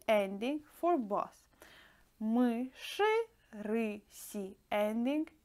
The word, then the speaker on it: мыши: And dear friends, do you hear how I pronounce мыши? We write ending e, but I pronounce it like ы, because sh is always hard, and yeah, we can't pronounce it soft.